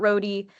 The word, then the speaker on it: Rohde: Um at some point between 1925 and 1927, Roodie started officially referring to himself as Gilbert Roadie. Um he changed the pronunciation of his name from the German road to Roodi.